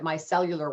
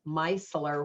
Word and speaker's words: Micellar: I was calling it Micellular Water, but if you look at it, there's not enough letters in there to be Micellular Water. So it's Micellar Water.